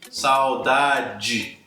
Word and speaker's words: saudade: No final da palavra, se a última sílaba é DE ou TE, aí com certeza eu sempre vou pronunciar de forma alterada se eu estiver nessa região da pronúncia alterada, São Paulo, Rio de Janeiro, Brasília. Eu vou dizer ali saudade, saudade. E antes, antes, ok?